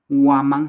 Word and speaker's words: waman: correcta en el achahala waman se escribe con W a m a n waman que significa alcón Entonces nos estamos dando